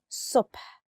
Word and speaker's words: صبح: For the word صبح, lots of people cannot pronounce the letter sa. And sometimes you mix it with sa. But morning, صبح, is with a sa. صبح.